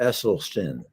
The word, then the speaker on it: Esselstyn: If I can make one correction, the name is Dr. Esselstyn. Oh, it's the speech impediment. So just pronounce it like it's spelled.